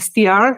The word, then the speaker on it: str: I just call it str, but I like stir. Yeah, I think the Americans say like stir.